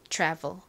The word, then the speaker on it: travel: 나죠 그리고은 벨이 아니라 VV 이렇게 불에 가깝게 발음이 됩니다 travel travel travel 의미가 뭘까요 travel 여행하다라는 의미이죠 여행하다